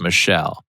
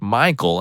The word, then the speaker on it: Michael: and again this girl was adamant it was pronounced Michelle mom Bemus said something along the lines of it's literally a name from the Bible it's pronounced Michael and has been for thousands of years the